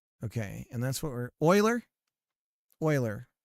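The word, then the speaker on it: Euler: And that's what we're Oiler. Oiler. Am I saying it wrong? It's Oiler, right? Not Eer.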